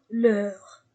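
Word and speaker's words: leurs: notre n vôre V leur l'URE avec S et je ne prononce pas la lettre S nouveau leur maison pluriel avant de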